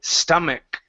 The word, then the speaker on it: stomach: Uh right here, this word is a k has a k sound at the end. Instead of stomach, it's stomach. Stomach.